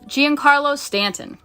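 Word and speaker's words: Giancarlo Stanton: Uh, Gian Carlos Stanton.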